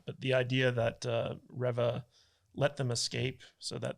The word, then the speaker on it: Reva: It's Reva. Okay, Reva, yeah. But I'm getting kicks out of it because he says her name wrong every time. Is it actually Riva or is it Reva?